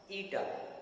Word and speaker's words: eta: And refractive index is given by the symbol mu or eta. Okay, it is pronounced ETA, eta, Greek alphabet.